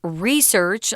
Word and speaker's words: research: mention the noun research the pronunciation is research on the first syllable but a lot of